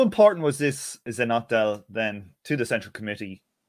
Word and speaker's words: Zhenotdel: Zhenotdel. It's an abbreviated form. Zhenshina is woman. Otdel is department.